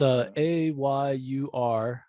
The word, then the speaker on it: Ayurveda: Yeah, I didn't repeat that one because I couldn't pronounce it. So whatever you said. No problem. One more time, Ayurveda? Yeah, it's A-Y-U-R-V-E-D-A, Ayurveda.